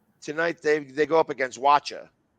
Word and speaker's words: Wacha: And tonight, this guy's going to be pitching to him because right now, tonight they go up against Wacha. I think that's how you say it, Waka.